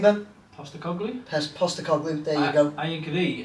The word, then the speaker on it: Postecoglou: Postecoglou, there you go.